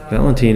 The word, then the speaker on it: Valentine: Okay, they did say it's pronounced Ein. It's Valentine. Valentine, okay.